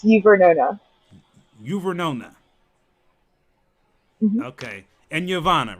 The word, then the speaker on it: Uvernona: I know I messed up your name, your Vanana, did I say it right? Say it. Say it correctly for me. I know it's close. I know I'm close, but not Say your name correctly. It's Vernona.